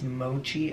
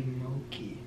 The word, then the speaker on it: mochi: For some reason, I interpreted the CH as a K sound. When we went to that sushi restaurant, Cameron said that I think that's how you pronounce it.